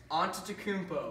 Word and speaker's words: Antetokounmpo: Giannis Antetokounmpo.